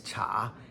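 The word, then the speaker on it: 察: Also, second tone is this cha, as in jing cha, or police.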